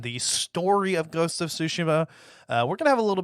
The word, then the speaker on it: Tsushima: Ghost of Tsushima. That's how it's actually pronounced.